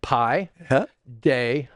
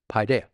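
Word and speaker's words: παιδεία: Admonition is the Greek word Paideia. And it's the way it's pronounced Paideia. Paideia.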